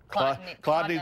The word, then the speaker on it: Chladni: The trick is it's not spelled like it's pronounced. Chladni, there's a C-H, not a K up front, okay?